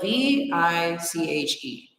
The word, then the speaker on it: viche: me school y'all okay what is viching it is spelled v-i-c-h-e some people might spell it with a B